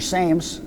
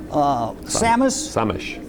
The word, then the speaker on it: Sames: And this is Dalibor Sames. Samish. Samish? It's Dalibor Samish. It's spelled like Sames.